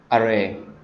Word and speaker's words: awry: Example is all my plans for the party had gone array. Its spelling is array. Sorry, there is W is silent.